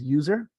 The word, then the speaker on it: usr: so Universal system resources I will typically just pronounce this as user so here these are